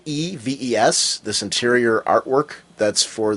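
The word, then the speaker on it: Neves: And the artwork, Diogenes, I'm not going to mispronounce it. It's Nieves, this interior artwork that's for the upcoming issue, the Blackest Night Green Arrow number 30.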